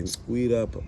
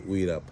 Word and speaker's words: Uirap: My surname is actually Uirap, but just to make it easier for all to pronounce, then I would say Uirap.